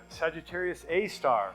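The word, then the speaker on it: Sagittarius A*: galaxy we see have Sagittarius A star that's how you say it it's an asterisk but we don't say asterisk um it's a giant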